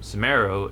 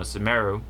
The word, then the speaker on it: Sumeru: of forget is that in japanese if you play in japanese the way they pronounce um sumero is kind of just saying like saying um smell in japanese but with that sort